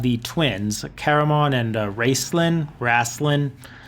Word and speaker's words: Raistlin: twins Caramon and Raistlin rasslin exactly how the authors want to pronounce it they're a warrior and